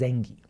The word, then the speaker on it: Zengi: Sometimes it's They They pronounce it as Zengi.